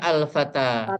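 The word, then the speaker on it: فتى: fityatun Fikiyatun nam ini fatan ini adalah ya artinya bentuk mufrad artinya seorang pemuda pemuda ini kalau tidak ada alif lamnya dibacanya fatan heeh kalau ada alif lamnya dibacanya alfata tanwinnya hilang iya kalau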